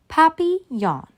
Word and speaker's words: Papillon: hope we get a Papillon like our neighbor's dog you say it like this Papi yawn in French it means butterfly I help Mrs Devine